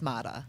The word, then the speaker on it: Maatta: But you're okay with Maatta? I'm okay with Maatta.